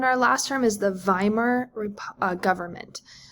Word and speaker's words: Weimar: And then our last term is the Weimar government. Weimar sounds like it starts with the letter V. That's how they say it sort of in German.